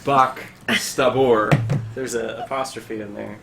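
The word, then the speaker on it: Baq'stabor: How do you pronounce? Bach Stabor. Bach Stabor.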